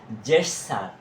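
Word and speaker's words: gesture: তারপরে আসো তোমরা এটাকে এসটি তোমরা এটা সবসময় গেট স্যার বলো আসলে এটা কিন্তু গেটসার না এটা হবে জেস স্যার জেস স্যার জেস স্যার জেই এস টিউ আরই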